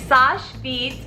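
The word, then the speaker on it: Seche Vite: Amazon purchase this is Sasha vite okay I'm like looking like how do I pronounce it it's Sasha feet I use it so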